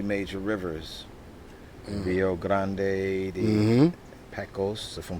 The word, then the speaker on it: Pecos: Pecos, if I'm pronouncing it right, Mhm.